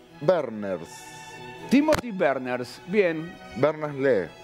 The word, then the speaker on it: Lee: Berners lee. Le, ¿qué leía? No sé si se pronuncia Le o Lee. No, Lee. Lee.